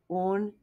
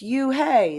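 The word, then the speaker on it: Unhei: "It's spelled U-N-H-E-I. It's pronounced Une." "Oh, it's you, hey," the boy said.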